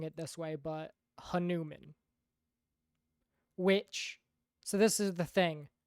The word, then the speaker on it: Hanuman: But the pronunciation of Hanuman, the correct pronunciation is Hanuman.